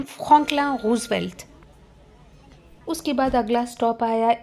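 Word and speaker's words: Franklin Roosevelt: अगर आपको इस स्टेशन को इंग्लिश में प्रोनाउंस करना हो तो आप कैसे प्रोनाउंस करोगे? You will say फ्रैंकलिन रूसवेल्ट। Right? लेकिन फ्रेंच में प्रोनाउंस करते हैं फकला रूसवेल्ट।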